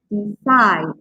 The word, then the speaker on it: decide: So you can stress the last part, require, require, decide, decide, okay?